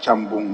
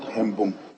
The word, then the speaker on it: Chambung: The last one, that is Chambung, not Hembung, is C, not E.